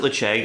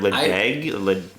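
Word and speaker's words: Ledaig: I pronounce it Lecheg. I don't know how other people pronounce it. I've heard Ledeg. I say Lecheg. Lecheg. And I don't know if that's right. I just say it's a weird pronunciation on how it's spelled. It's not Ledeg. It's like the D is Ledeg. Yeah. The D kind of comes off like a J or something.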